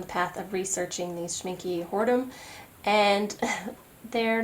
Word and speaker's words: Schmincke: Schmincke Horadam is how you say it, Schmincke, like that.